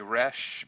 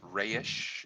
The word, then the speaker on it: Resh: hebrew letter i like people say resh but in actuality it's pronounced rayish and if you look